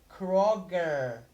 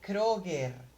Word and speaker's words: Kroger: way you pronounce it you say Crocker but you would have to say a Kroger crow crow not crow